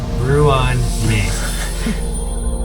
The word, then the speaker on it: Ruan Mei: You do know it's pronounced Ruan Mei.